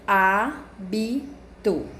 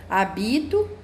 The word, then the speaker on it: hábito: a Bito então aqui a tonicidade da sílaba é na prime aqui na primeira né na primeira sílaba abito né se eu for falar habito né já vai mudar a palavra ou habitou né vai ficar totalmente diferente da primeira que foi mencionada Então como é que